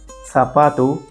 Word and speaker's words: zapato: This letter sounds more like English S or the combination of TH. For example, zapato, Zara, feliz.